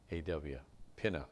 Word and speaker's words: Peninnah: Peninnah, P-E-N-I-N-A-W, Pinna. That's the pronunciation.